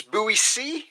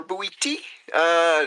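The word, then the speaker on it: Boétie: It's Bowie C or Bowie T, depending on which Frenchman you ask.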